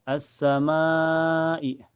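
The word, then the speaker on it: السماء: Cara bacanya langsung masuk ke sin ya. Alif lamnya tidak terbaca. Dan cirinya setelah alif lam ada huruf yang bertasyid yaitu di sin. Lanjut. Assama ma assamaai.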